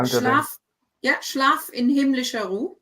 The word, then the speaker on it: Schlaf: Well, pronunciation first of all. How do Schlaf.